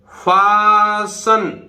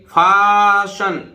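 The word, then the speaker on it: fasten: यहां देखिए फासन, STEN, STEN क्या बोलता है, शन। देखिए तीनों मिलके फाशन।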